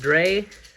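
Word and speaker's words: Drei: been playing cyber dragon dry I say that because I think that's German and that's how it's pronounced a German I believe I've heard people call it Dre I don't know if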